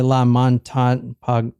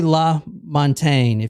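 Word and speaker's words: LaMontagne: l l Montaine Julie cuz I keep want to say la mon or something but this is J this is Julie La Montaine short dark hair light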